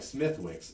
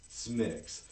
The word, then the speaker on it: Smithwick's: So, because it looks like Smithwick's, but it's pronounced Smithwick's.